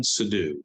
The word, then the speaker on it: Sidhu: Today's episode, I'm going to be talking to Helen Sidhu. Did I pronounce that correctly, Helen?